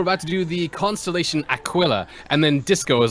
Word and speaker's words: Aquila: to do the constellation Aquila, and then Disco was like, Akia, and I'm like, no, it's not Mexican, it's Latin. It's Akia. Aquila, like aqua.